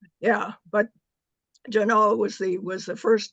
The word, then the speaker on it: Genoa: in Sacramento on loan to the Nevada Museum Jano and that's how they pronounce it it was named after Genoa in